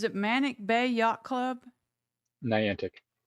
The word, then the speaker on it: Niantic: manic Bay Yacht Club Niantic how do you say it Niantic n i a n tantic okay so what is